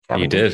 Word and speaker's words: Cavendish: Did I say that right, You Cavendish? did. Not the right Fantastic. accent, but right pronunciation.